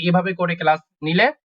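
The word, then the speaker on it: Null: দেখেন নূ এটা হচ্ছে নূল শূন্য জিরোটাকে বলা হয় নূ এন ও এল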